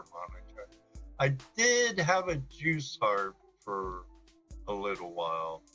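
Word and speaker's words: Jew's harp: I did have a juice harp for a little while. Yeah, and to correct you there, Chrissy, it's juice, not Jews.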